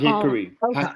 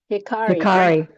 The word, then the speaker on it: Hikari: Not hickory. Can you How do you pronounce it? Hikari.